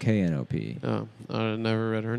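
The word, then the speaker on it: Knope: coming to work today isn't that what it's spelled like no it's knop oh I never read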